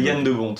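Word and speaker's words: Jan de Bont: Il s'appelle Yann de Bon. Yann de Bon. Aussi, ouais. Il est européen, je le prononce à la française, je me permets.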